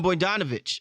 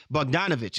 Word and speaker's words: Bogdanovic: Los Angeles camp and buan bonovich uh uh uh bogdanovich excuse me I didn't pronounce that properly from the Brooklyn Nets